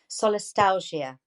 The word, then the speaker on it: solastalgia: my research which is solist let me just pronounce it correctly solastalgia which means the grief and Nostalgia we feel